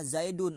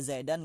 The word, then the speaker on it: Zaidun: Maka cara bacanya Zaidun, enggak boleh baca Zaidan, enggak boleh baca Zaidin.